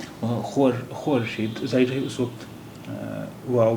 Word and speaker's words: خورشید: دیکھیے خے واو رے شین یہ دال، اس کا تلفظ دیا ہوا ہے خورشید، یہ ڈبلو واو کے لیے خورشید، یعنی واو اس وقت بولا جاتا تھا. اب اردو میں واو نہیں بولا جاتا ہے. اس کے دو تلفظ ہیں، خورشید بھی ہے اردو میں اور خورشید بھی ہے، دونوں ہی بولے جاتے ہیں.